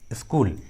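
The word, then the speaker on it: school: लेकिन इसका एक एक्सेप्शन है, स्कूल, स्कूल। देखिए इस इंग्लिश वर्ड में एस और सी दोनों एक साथ है लेकिन यहाँ पर सी का आवाज़ आ रहा है, सी का उच्चारण किया गया है, ये एक्सेप्शनल केस है, ये एक्सेप्शन है, स्कूल।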